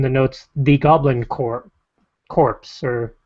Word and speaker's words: Corps: notes the Goblin Corps corpse or core I guess the P is silent in that respect by re Marmol it's